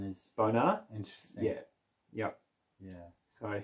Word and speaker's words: Bonar: The pronunciation is Bonar.